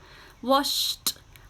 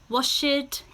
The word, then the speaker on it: washed: And we're going to add the t sound. So you have watched, washed, and kissed. Okay, I'll say it again. You have watched, washed, and kissed. Again, these are now still one syllable. Watched, washed, kissed. Okay, one syllable. We do not say watch it, wash it, kiss it. It's a t sound, a short t.